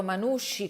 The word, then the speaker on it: Manushi: come pronunciato manusci con la s la h e la i senza la c si presenta così nel